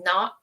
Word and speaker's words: Nacht: So, it was like Krampo, we did the German pronunciation. So, it was Krampus Nacht.